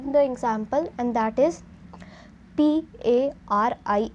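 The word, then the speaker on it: Paris: so you can guess the meaning and the pronunciation of it so the example let us see the example and that is p a r i s so first I'll read it the name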